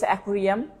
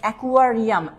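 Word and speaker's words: aquarium: একুরিয়াম যেটাকে আমরা বলি বিভিন্ন ধরনের মাছের ছোট পাত্র যেটাকে বলা হয় তো সেটা একুরিয়াম একুরিয়াম যেটাকে আপনারা করবেন একুয়ারিয়াম।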